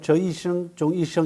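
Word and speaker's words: 择一事终一生: 중국 발음을 저이성 종이성 이렇게 얘기를 합니다.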